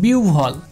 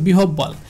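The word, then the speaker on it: বিহ্বল: যেমন দেখেন বিউভল, এটাকে অনেকে উচ্চারণ করে বিহব্বল, কিন্তু এটা ভুল উচ্চারণ, কারণ দেখেন এখানে হ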